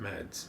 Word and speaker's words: Mads: and there's rumors that is it math is that how you say it matt's michael james mickelson i don't know it's is what no it's uh danish danish yes yeah so mad so let's call it meds yeah that's mickelson so